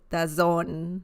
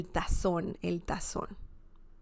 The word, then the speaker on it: tazón: By the way, the Z sound in Spanish is very similar to the S sound in English, okay? So you wouldn't say el tazón, right? No. You just pronounce it as if it was the letter S, okay?